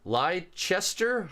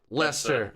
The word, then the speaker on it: Leicester: major which is the uh lie chester i hope i pronounced that lester ah okay there's there's